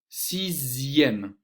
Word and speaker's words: sixième: Dans les mots de la deuxième colonne, la lettre X va se prononcer Z, Z, comme deuxième, sixième.